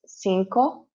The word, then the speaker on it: cinco: see the number five you can see it's cinco so you see the first c we pronounce it as an s but the second c we pronounce it as a that's how a c will normally sound right so yeah that's